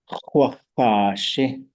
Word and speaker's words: x̱ʼaduwóosʼ: ʼaduwóosʼ. It's a long, the first vowel is a long vowel.